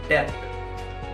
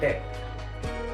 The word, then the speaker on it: debt: What people से डेप्ट because it's spelling is DEBT, बट you have to से डेट।